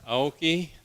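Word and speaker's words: Aoki: opposed congratulations and a candidate for treasurer hyoki hello my name is AI the last name is spelled a o Ki I'm a transplant from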